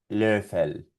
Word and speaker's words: Löffel: Por lo tanto saldría algo así, mira, forma de O y sonido de E. E, E, E. Y aquí vamos a pronunciar estas palabras con esta técnica. Österreich, hören, Löffel.